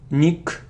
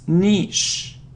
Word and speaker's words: niche: so what's next so it isn't Michele or Mick its niche niche it's one sound and niche so we